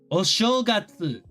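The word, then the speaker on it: お正月: 休み、 remember, the polite way to say, the new year. It has been so long since you taught me this. Holy shit, what is お it? 正月。 Oshogatsu.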